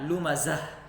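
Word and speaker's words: لمزة: Jadi di sini ada ta ini namanya ta tamarbuto. Ini ta tamarbuto. Jadi apabila kita waqaf atau berhenti pada huruf ta tamarbuto ini, maka cara bacanya jadi dijadikan ha, lumazah.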